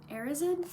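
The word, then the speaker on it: Erised: 12 the mirror of arid I know people have pronounced it a bunch of different ways I'm going to say Ariz in Christmas was coming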